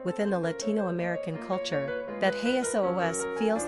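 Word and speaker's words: Jesús: Quick Facts on Jesus Gender, Boy Origin, Greek Number of Syllables, 2 Ranking Popularity, 106 Pronunciation, "Hey S.O.O.S."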